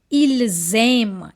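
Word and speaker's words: ils aiment: And this one is ilm ent silent.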